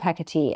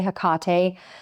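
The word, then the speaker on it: Hecate: And I I will say that some people say hkate. I'm not saying which one is right or wrong because uh the exact pronunciation has been debated over scholars over time. So we'll say both are right and I'm just going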